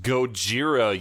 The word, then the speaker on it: Gojira: It's pronounced Gojira, you moron.